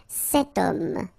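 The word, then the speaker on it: cet homme: is here we've got this ash letter remember Ash is not pronounced okay so you get the sound of O at the beginning of this word okay setum so that's the reason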